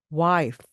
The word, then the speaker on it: wife: 소리를 내 주는 거거든요 F 발음은 그냥 그대로 바람만 나가야 됩니다 그래서 와 와 와이크 하고서의 소리가 나는 것은 한국 말입니다 영어는 wife wife 제가 좀 과장되게 소리를 내고 있습니다 F 발음 토끼 발처럼 하시면서 바람이 나갑니다 이게 바로